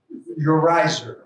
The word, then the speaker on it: Urizar: Urizar, is that the way you pronounce it? And the Star? Urizer, okay. So those were 2.